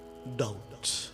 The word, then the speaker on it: doubt: It rhymes with the word mouth. Doubt.